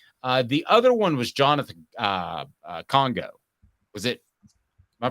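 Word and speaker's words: Kongbo: The other one was Jonathan Congo. Was it? Am I pronouncing it? Jonathan Congo. Yeah, Jonathan Congo.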